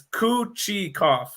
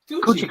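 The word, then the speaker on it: Kochetkov: And I saw a tweet by the Carolina giving the pronunciation for it. It's Kuchikov. Kuchikov.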